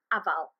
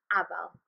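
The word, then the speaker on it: afal: a e e o the first one a is like the a in apple this is the short version so for example the word for Apple in Welsh aval Abal another example is car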